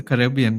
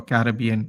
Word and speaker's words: Caribbean: Actually, it's a Caribbean thing, isn't it? Or Caribbean, depends on how you say it.